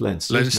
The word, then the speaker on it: Leinster: wing or center for i read that as leicester forgive my english eyes leinster it is pronounced lenses yeah yeah and and